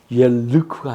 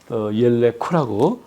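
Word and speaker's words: ילכו: 하스데카 이렇게 발음을 해야 되고 장모음 뒤에 슈바가 왔잖아요. 그 얘가 이게 장모음이잖아요. 그래서 옐레쿠, 옐르쿠가 아닙니다. 옐레쿠라고 발음을 해야 되고 메텍보라는 게 이렇게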